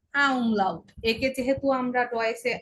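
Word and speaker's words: Ä: আ, তখন বলবো কি আ উমলাউট। আ উমলাউটের উচ্চারণ কিরকম হবে? এ। আ উমলাউটের উচ্চারণ হবে এ। একটু দীর্ঘ করে আমাদের বলতে হবে এ, আ উমলাউট এ।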